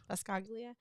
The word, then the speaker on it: Buscaglia: Buscaglia.